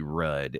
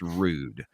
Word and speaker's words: Rudd: Okay, so I worry about this too because my last name is Rudd, Rudd, and in German that is pronounced Rude. So I get called Mr. Rude a lot, which is not a big mispronunciation.